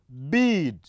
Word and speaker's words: bead: smooth transition and oh when we speak the two words you find one of them is spoken with extra length and this extra length is caused by the context the context in which the sound appears the sound I'm speaking